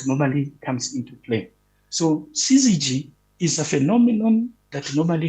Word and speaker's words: syzygy: So, it is syzygy. Yeah, that is the pronunciation.